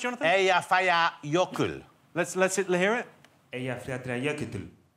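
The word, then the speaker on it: Eyjafjallajökull: How do you think it should be pronounced, Jonathan? Eyjafjalla jökull.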